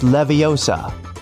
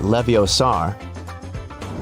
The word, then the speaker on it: Leviosa: Hey Siri, it's Leviosa, not Leviosar.